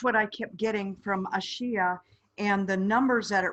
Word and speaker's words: Ashia: What I'm hearing is Ashia. And I believe that's correct. Okay. Ashia.